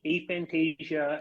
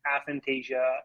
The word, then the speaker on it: aphantasia: So for the record, it's probably somewhere between aphantasia and aphantasia. It's more like a tomato in terms of the pronunciation on that.